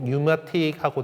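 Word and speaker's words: pneumatic: 그래서 그 프네오마티가 이제 영어에서는 그냥 피는 묵음되고 뉴마틱하고 되는데 이게 뭐 공기로 뭔가 하는 것들에 대해서 어 피오마티라고 하는 표현을 쓰는 거예요.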